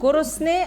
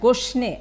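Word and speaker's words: گرسنه: না, গোরসনে অ্যান্ড গোশনে আমরা অনেক সময় কথ্য রূপটা একটু একটু ডিফারেন্ট হয়, বাট অরিজিনালি দিস ইজ গোরসনে।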